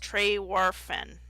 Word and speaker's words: Trewarthen: Of the Cornish harbour town of Trewarthen, pronounced Trey-Warfen, which I don't care about.